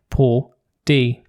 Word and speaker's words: Paul D: Also, Paul D is pronounced like po D.